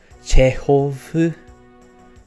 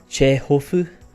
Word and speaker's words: Chekhov: almost always written as Chekhov. That pronunciation wasn't great. Chekhov. That's better.